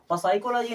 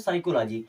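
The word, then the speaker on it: psychology: साइकोलॉजी word सुना होगा पी एस वाई सीओ एओ जीी वा इसे प साइकोलॉजी नहीं पढ़ते हैं इसे क्या पढ़ते हैं साइकोलॉजी अब क्योंकि पी के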